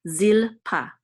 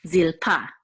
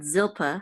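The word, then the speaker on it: זלפה: which we'll say pa, zil pa. And this is the trope mark. So it says that the accent is on the last syllable, so it's zilpa, not zilpa, but zilpa. So vilha and zilpa, okay, would be the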